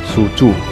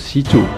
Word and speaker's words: Xu Zhu: By the way, panggilan Si Chu ini tidak seperti tertulisnya ya. Kalau tertulisnya kan seperti Su Chu, tapi kalau memang dibacanya dipanggilnya itu Si Chu.